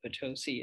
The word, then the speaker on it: Potosi: wisconsin and nevada i'm not sure how they pronounce it in wisconsin and nevada but it's definitely potosi in missouri and every american i have ever